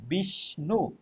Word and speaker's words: বিষ্ণু: এখন দেখেন, এখানে আমরা যখন উচ্চারণ করছি বিষ্ণু, দেখেন বিষ্ণু, বিষ্ণু, তার মানে এখানে একটা স উচ্চারণ করছি আর একটা ন উচ্চারণ করছি, দন্তান্ন ন, তাই না?